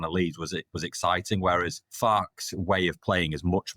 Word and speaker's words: Farke: Because it pisses me off when we all call him Farke when his name is pronounced Farke.